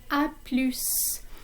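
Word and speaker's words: à plus: say goodbye informally is a plus in this case the s is pronounced at the end of this word um sometimes s is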